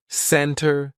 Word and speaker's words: center: Usually, if the T comes after an N, we drop that T and we do not pronounce it. Center, center.